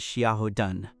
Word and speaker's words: Xiahou Dun: Darling, that character's name is Xiahou Dun. Make sure you pronounce the last character correctly and remember it well, okay?